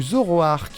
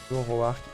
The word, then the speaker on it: Zoroark: Est-ce que c'est Métamorphe, Giratina, Lucario ou Zoroark?